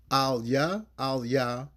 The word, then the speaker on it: AhlYa: AhlYa, LaMah, IZaBathNaYa. Okay? And I can spell it for you.